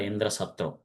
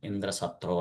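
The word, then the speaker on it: Indrashatru: So for that he has to chant the mantra Indraatra. So in the short version but um instead of the short version he pronounced the long version Indra satro like that.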